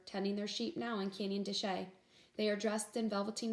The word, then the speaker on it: Canyon de Chelly: near the Canyon de Chelly but it's actually pronounced Canyon de Chelly were the states of Utah Arizona Colorado and